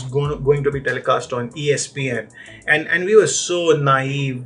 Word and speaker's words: ESPN: to be telecast on ESPN, and we were so naive during those days that we called ESPN as some of us called it as Espan. We did not know how to pronounce it.